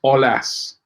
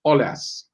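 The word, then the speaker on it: Aulas: the leon president name the a the au in his name is pronounced o so it's olas i'm not french right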